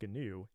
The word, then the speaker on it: GNU: It's pronounced GNU and it's a project that predates the Linux kernel itself and was started all the way back in 1983 by Richard Stallman.